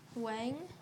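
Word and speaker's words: Weng: was gonna ask you how do you pronounce your last name Wang but it's spelled w e ng yeah but if it's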